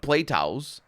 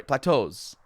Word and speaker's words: plateaus: in its singular form in its plural form it's pronounced how the English pronounce it it's not even how the English pronounce because it's not play toow you know what I